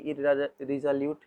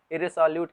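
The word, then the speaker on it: irresolute: इररिजोल्यूट, पहले तो हम ये जान लें कि इररिजोल्यूट, सॉरी प्रोनाउंसिएशन थोड़ी गलती कर दी। इररिसोल्यूट कहते हैं इसको, इररिसोल्यूट। ठीक है, इररिसोल्यूट।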